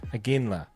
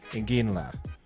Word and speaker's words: Iginla: Tej Iginla. Iginla? Did I say it right? Sounds right to me. I've heard it both ways. It sounds how it's spelled. Exactly, which is really hard to say.